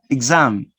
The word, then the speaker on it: exam: exactly exactly so the letter x is pronounced with two different sounds with the song exam exam exam exam exam exactly exactly exactly exactly exact exact exact exactly notice you change you change the pronunciation of these letter x we commonly i'm going to repeat it again we commonly pronounce this letter x with the song 6 no but in these words exam and exactly you change with the voice zones all right now let's